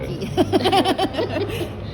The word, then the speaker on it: Labranche: The first part is fine, but the last one is wrong. Labranche.